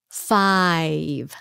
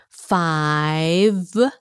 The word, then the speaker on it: five: four four five five is another hard one five long i five there's a v at the end kung fi la fi